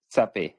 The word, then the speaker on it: Sap: all right uh uh is it safe or sap how do you say your name sap but you can say safe it's also good awesome brother thank you